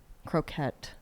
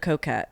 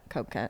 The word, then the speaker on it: coquette: Croquette look. Croquette. That's a food. Yeah, what is how do you say that? Coquette. Coquette.